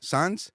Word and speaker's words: Saenz: Saenz? I said it right? Like signs. J.Saenz?